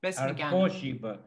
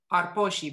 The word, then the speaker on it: Arposhiba: Arposhiba. The accent is on the O. Arposhiba. Khoshiba. Tloshiba. Troshiba. Khoshiba. Khemshoshiba. So the accent's always on the O.